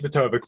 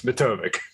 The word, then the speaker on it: Matovcik: I'm like, I should just tell him it's Matovcik, because every single time I go on a podcast, someone's like, "How do you say your last name?" It's Matovcik.